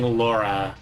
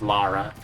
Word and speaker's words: Lara: I keep saying Laura. It is Lara. Yeah, because they thought Americans couldn't pronounce Laura. Meanwhile, Americans have a hard time pronouncing Lara instead.